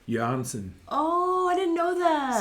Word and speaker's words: Jørgensen: Jørgensen. Oh, I didn't know that. Samuel Jørgensen. Jørgensen.